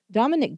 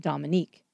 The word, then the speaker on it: Dominique: beginning for one thing Dominick Dunne would say that the judge continually mispronounced his daughter's name calling her Dominic instead of Dominique secondly he seemed to